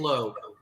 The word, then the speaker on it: Loo: All right, I took the two O's to be ooh, but Lowe. I appreciate that. That's the anglicized pronunciation, Lou, but yeah, it's Lowe.